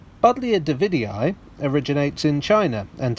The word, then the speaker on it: Buddleja: he first classified it it doesn't matter the pronunciation is the same budlio davidii originates in china